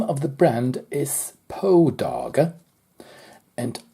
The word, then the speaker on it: Poedagar: is poe dog and I presume that that name may be related to the famous short story writer Edgar Allan Poe as his name pronounced backwards sounds like the name of the watch so this is my